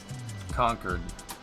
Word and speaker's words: Concord: Concord. There's a town in the United States that's in Massachusetts that's pronounced like that. I don't think giving it 2 lanes all the way is gonna work. Concord.